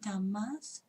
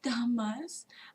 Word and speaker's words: Dhammas: Kaya, Vedana, Citta, and Dhammas. And it's pronounced Dhammas, by the way, and not Dhamma.